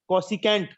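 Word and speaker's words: cosecant: फिर कोसेक, कोसिकेंट। अच्छा यस सर, क्या है ये? कोसिकेंट। हाँ, प्रोनाउंसिएशन सही करो इसकी।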